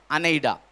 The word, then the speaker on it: anaideia: अनेडा, ANAIDEIA।